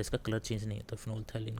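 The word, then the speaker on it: phenolphthalein: ये फिनोल थैलिन बोलते हैं इसको, प्रोनाउंसिएशन इसका ये है, फिनोल थैलिन सॉल्यूशन।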